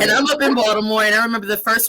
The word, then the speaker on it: Baltimore: people say it yes it's spelled with a t no one from box tomorrow everyone says baltimore like with a d so you could